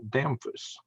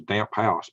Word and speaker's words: Damphus: who was Colonel Paul Damphus. That's his name, Damphus. And if you saw his way it's spelled, you'd think it was damp house, but I pronounced it Damphus. I guess that's the French version.